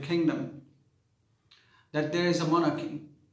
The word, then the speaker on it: monarchy: लेकिन अगर हम इस वर्ड को मोनार्ची बोलते हैं तो मोनार्ची या मोनार्की, these two, both of these pronunciations are wrong. Monarchy is a word, MONARCHY, monarchy।